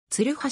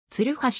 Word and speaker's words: 鶴橋: となっている jr や近鉄の自動放送では鶴橋とるにアクセントを置いて発音されているは大阪メトロの自動放送では鶴橋とつにアクセント